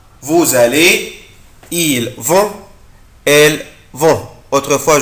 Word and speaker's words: vous allez: vous allez. vous بنطق الاس هنا طبعا زد.